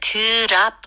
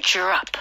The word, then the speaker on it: drop: 네, 이거는 drop 이렇게 하시면 안 되고요. D-R-O를 뭉치는 소리로 J-R 발음으로 해주셔야 돼요. Okay. So, drop.